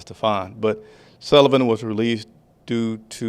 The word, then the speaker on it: Stephen: Again, Stephen Sullivan, I think actually he pronounces Stefan, but Sullivan was released due to an injury settlement.